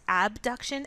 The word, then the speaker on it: abduction: familiar with the terms abduction and adduction abduction sometimes pronounced a B duction for the sake of clarity means to move away